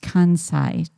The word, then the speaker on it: Kansai: Okay, so let's take a look at Oh, Robert's saying it's pronounced Kansai, Jeff.